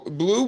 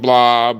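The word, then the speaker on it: Blooob: A lot of people want to call him Blob or Boob or whatever they try to call him. But Bloob, B-L, the third O is silent, B-L-O-O-O-B, was made by us.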